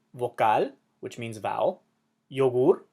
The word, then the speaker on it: vocal: amor which means love so these words emphasize the last syllable because they end in a letter that is not a vowel not an N and